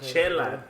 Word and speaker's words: Chela: Chella Entertainment. Chella like Chella. We're going to do some chellas.